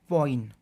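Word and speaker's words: ποιεῖν: और इसके अलावा एक और इसमें ग्रीक भाषा का शब्द मिलता है हमें, और हम उसको प्रोनाउंस करते हैं कुछ इस तरह से, पॉइन, POIEIN, पॉइन।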